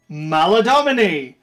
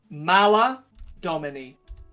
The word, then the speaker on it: Maladomini: Maladomini! Home of Big Slug! Right, how the fuck do you spell that one? Maladomini. Exactly as it sounds. M-A-L-A-D-O-M-I-N-E? Aye. Domini. Domini. Not Domine.